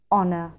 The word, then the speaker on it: honour: The words that begin with a silent "h" that are used most often are "hour", "honest", "honour".